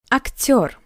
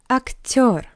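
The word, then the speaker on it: актёр: Актер. Актер. You see yo after T. That's why T is soft.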